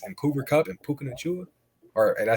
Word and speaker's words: Nacua: And Cooper Kupp and Puka Nacua, or did I say it right that time or no? Nakua. Nakua.